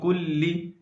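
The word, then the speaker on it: کُلِّ: کر پڑھیں گے استغفر اللہ ربی۔ اگلا لفظ ہجے کے ساتھ پڑھیں گے۔ من کلی، میم نون زیر من، کاف لام پیش کل،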